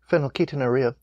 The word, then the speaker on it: phenylketonuria: I'm going to try to have this written phonetically for a reason fen yoki tawny raha phenylketonuria thank you this disorder can cause an intellectual disability seizures behavioral and mental disorders have left untreated dr.